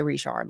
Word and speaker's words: Richard: Her last name is spelled like Richard, but you know, um my mom's grandpa on her mom's side, his last name's Richard, and they don't say Richard, they say Richard like that.